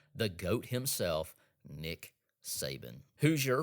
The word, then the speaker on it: Hoosier: Hoosier rhymes with loser, dislike.